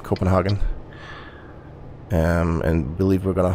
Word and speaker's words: Copenhagen: a turn here now this is uh copenhagen that would be the english pronunciation i believe copenhagen um and believe we're